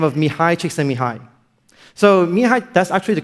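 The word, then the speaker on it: Mihaly: by the name of mihai chiksan mihai so mihai that's actually the correct way to pronounce his name you know so i actually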